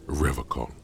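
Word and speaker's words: Revachol: He pronounces Revacol with a hard K, unlike other people. I like to pronounce it the hard way, the old way, the Vespertine way.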